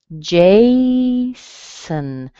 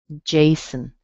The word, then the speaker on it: Jason: Again, same thing. We have the strong J, and the O on the end is a schwa, so it sounds like Jason.